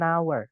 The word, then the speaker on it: hour: 1 jam itu an hour walaupun Tulisannya jam itu H ya pakai h Tapi bacanya pakai a h-nya enggak dibaca makanya pakainya n seperti